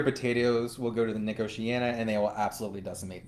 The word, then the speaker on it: Nicotiana: And there's the one that I don't know how to pronounce, Nicotiana? Nicotiana? Nicotiana, Yes.